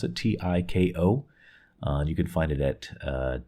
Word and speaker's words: Tiko: I'm not sure how they pronounce it. Tiko.